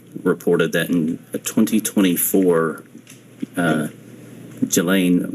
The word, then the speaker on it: Ghislaine: Um, as best as we know, it's been public reported that in 2024, uh, Gilain Maxwell or Gileain, I think it's how it's pronounced, arranged and wired $1